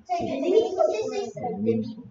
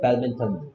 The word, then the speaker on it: badminton: 배드민톤. o는 o 소리 난다고 생각해 버리는 거지. 근데 읽을 때는 배드민턴.